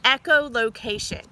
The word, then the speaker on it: echolocation: They have a special sense called echolocation. That's a huge word. I want you to clap that sound, all those sounds in that word out. Echolocation. Wow, that's 5 syllables.